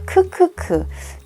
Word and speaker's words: ㅋㅋㅋ: 쓰는 그런 표현들인데, 먼저 크크크. 이거를 크크크라고 읽거든요. 이게 한글의 키읔, 그 자음 키읔을 가지고 키읔이 나타내는 그 소리가, 음가가 크예요.